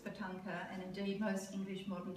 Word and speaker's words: tanka: We say tanka, which is two syllables.